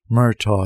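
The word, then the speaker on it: Murtagh: was forcing himself to go through with it myto he said and his voice broke on the second syllable Owen merto merang no registration the Wayne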